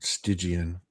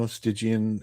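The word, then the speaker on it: Stygian: Um there might I think she might be uh okay here there going to be people argue about the pronunciation of this but I've always said stigian okay it's a part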